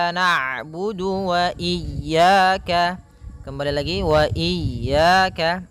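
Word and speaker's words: نعبد: harakat iaka iaka naudu kemudian ada huruf Ain yang berharakat sukun ketika huruf Ain berharakat sukun Ain itu punya punya sifat namanya bainah yaitu bacaan di antara syiddah dan Rah kalauidah suaranya tertahan kalau rak suaranya mengalir maka di antara keduanya I naudu iyaka kembali lagi Wa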